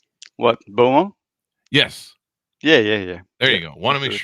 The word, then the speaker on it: Beaumont: me thanks for coming do I have the pronunciation of your last name correct what buo yes yeah yeah yeah there you go want